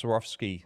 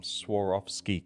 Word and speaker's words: Swarovski: Uh yeah, so that's S Swarovski. Sorry, I'm pronouncing it wrong. Sarovski crystal.